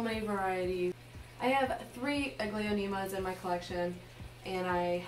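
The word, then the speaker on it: Aglaonema: is my silver bay is my silver bay a glionema and i finally was able to figure out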